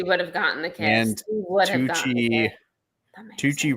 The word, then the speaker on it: Tucci: Tucci rhymes with Gucci.